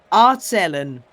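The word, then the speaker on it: aarzelen: Aardzelen. That is absolutely not how you pronounce it because there's probably a lot more phlegm in there.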